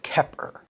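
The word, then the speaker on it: Xeper: Aquino the concept of Kepper spelled with the Greek letter Chi so it looks like it begins with the letter X in temple of set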